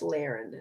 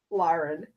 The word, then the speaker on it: Lahren: war that Tommy Lahren, you mispronounced your last name by the way, it's Lahren, not Lauren, but Tommy Lahren and Candox had.